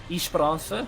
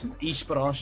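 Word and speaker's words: Esperança: Yeah, it's a East Bara, I believe, is how you say it. Um the the S and the A being cut the A being cut off from the name by native Portuguese speakers.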